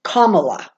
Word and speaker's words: Kamala: that says no no you pronounce her name like the word kama and law so Kamala so when it's Canela